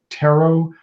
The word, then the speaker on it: tarot: it's the emphasis it's it's either taro or with the emphasis on the last and i always say